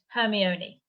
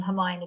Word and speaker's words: Hermione: they're all seven books I was pronouncing it hermie Oni until the movies came out I never heard the name Hermione before and I was like oh my knee Hermione and I then have